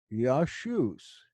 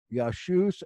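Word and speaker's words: Ἰησοῦς: it correctly as Paul did it would be pronounced yah shoes it's these people that haven't studied Greek that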